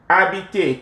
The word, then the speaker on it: habiter: adore, étudier, to study, habiter, to live. Okay. You realize that these verbs have voyelle, vowel, voyelle, voyelle, voyelle. Right. The H is silent, so you have a vowel.